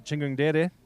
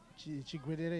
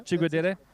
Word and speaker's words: Chigwedere: Got Mukandi Chingungdere. Chigwedere, yeah? Chigwedere.